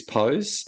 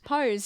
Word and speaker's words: Pose: I love the series Pose. Oh, yep. We did a Oh, that's how you say it. Pose. Yeah. What did I call it? Pose. Pose. Pos. I think I call it P.